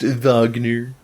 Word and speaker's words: Wagner: Oh, they don't got Lost Beethovven in this one, but they do have Richard Wagner. Oh, there you go. Um, it's pronounced Vagner.